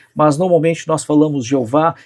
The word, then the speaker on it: Jeová: Talvez nem mesmo os judeus sabem, porque eles evitavam essa pronúncia. Mas normalmente nós falamos Jeová.